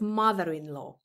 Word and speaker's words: mother-in-law: eyes of valor and the word law is pronounced law not lo lo is nisco is law so it's mother in law not low so uh is the